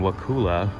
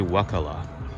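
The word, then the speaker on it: Wakulla: I've been saying Wakula. It's actually Wakala.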